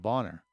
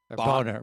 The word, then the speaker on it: Bonaire: around the island of Bonner. Boner boner I mean a bonaire. You know how they say it in the islands and how we say it in the states. Totally different.